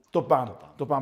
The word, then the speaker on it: Topan: nessuno, ma intanto Sammy, il cognome come si pronuncia? Topan, perfetto, perché ricordo l'anno scorso